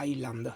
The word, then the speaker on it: island: Ehm c'è un po' di presa in giro anche con sta cagata, sta moda di dire island, no? Senza pronunciare minimamente la S.